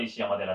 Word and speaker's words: 石山寺: に誘われます読み方は石山寺であっておりましたで紅葉のま